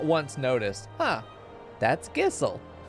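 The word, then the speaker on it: Gysahl: 14 years old that it was gishel greens not gissel i thought there was an h in there i have seen that word thousands of times and not once noticed huh that's gissel not once not until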